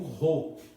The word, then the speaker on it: rho: com um P, que nós pronunciamos como Rho, né?